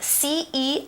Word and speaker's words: celebrate: It's spelled C-E-L-E-B-R-A-T-E, celebrate. That C, again, sounds like a different letter. It sounds like an S.